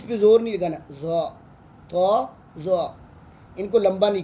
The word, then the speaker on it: ط: ایک ہے تو. اب کچھ لوگ اس کو پڑھتے ہیں توئے. دیکھو توئے ہم عربک میں نہیں پڑھ سکتے، یہ ہماری جو پاکستانی